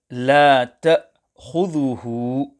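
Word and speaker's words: لا تأخذه: On the word la ta'khudhuhu, care must be taken to ensure that hamza is pronounced clearly. However, there should be no qalqalah applied on hamza.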